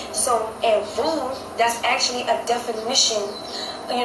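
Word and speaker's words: Vieaux: But no, my name is spelled V-I-E-A-U-X. That is how you spell Vu.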